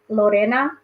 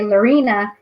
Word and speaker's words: Lorena: my real name is Lorena but that's the way as Hispanics would say it and but when I